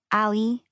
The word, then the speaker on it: Ali: I say it the easy gringo way. Ali, as in alleycat, alleyway, back alley.